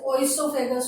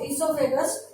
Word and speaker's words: esophagus: According to spelling, nowadays a few people pronounce it as oesophagus or osophagus, but I am in practice of esophagus only, so I will continue with that way only.